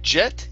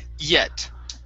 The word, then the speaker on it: yet: next up is yet give me a good y here instead of jet it's e yet yet very nice okay so